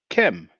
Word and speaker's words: Kem: Theophilo Benga says around here, the black of the eye is said or pronounced Kem.